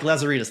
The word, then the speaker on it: Lazaridis: but brilliant Matt uh am I saying it right Mike lazaridis Mike lazaritas thank you yes um my question